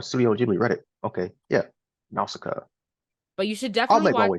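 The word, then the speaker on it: Nausicaä: I think it's pronounced Nausicaa. Okay, I see this on this. It's like that's good. Top Studio Ghibli movie things. Yeah. Oh, I'm on a Studio Ghibli Reddit. Okay, yeah, Nausicaa.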